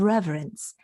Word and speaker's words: reverence: because the word reference we usually drop that middle syllable and we just make it two syllables reverence but he says reverence he pronounces that middle syllable this is part of